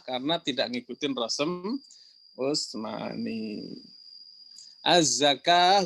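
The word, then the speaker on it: الزكاة: Az-zakah juga sama, tulisannya az-zakawah.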